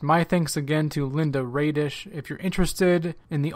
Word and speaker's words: Raedisch: Linda, and your last name is Raedisch, right? Is that how you say that? Yeah, you pronounced that good, too, yeah.